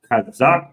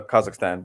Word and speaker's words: Kazakhstan: and and and right now you're currently in kazakistan is that how you pronounce it I'm in uh Kazakhstan but yes Kazakhstan okay okay interesting man and